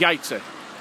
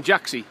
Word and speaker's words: Jajce: we've come into the village of yates which i pronounced at the beginning jaxy and if you see how it's written i guess you'll understand why but you can see